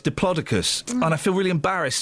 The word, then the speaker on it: Diplodocus: and the big diplodicus turns out it's not pronounced Diplodocus as I was told in the 70s that's what I thought it was yeah I know it's diplodicus and I feel really embarrassed saying it it's